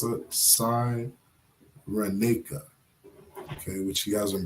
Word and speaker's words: Cyrenaica: How do you pronounce that? Cyrenaica, okay, which he has in brackets, is known as Libya.